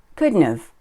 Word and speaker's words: couldn't have: words take a look could not have becomes couldn't have but we don't usually say it like that we usually say good enough or just good now remember Mary who didn't